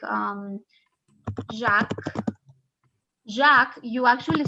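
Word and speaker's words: Jacques: examples here like um jack jack you actually spell it jacks okay but in french you do not pronounce the s it's only jack it's not jax no other name like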